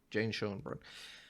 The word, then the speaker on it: Jane Schoenbrun: Jane Schoenbrunn.